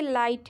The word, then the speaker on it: light: ठीक है, नेक्स्ट देखिए लाइट है LIGHT। इसमें भी क्या करा है हमने, जी एच को साइलेंट कर दिया है। ठीक है, और LIT पढ़ दिए हैं, लाइट पढ़ दिए हैं। इसमें भी जी एच साइलेंट है।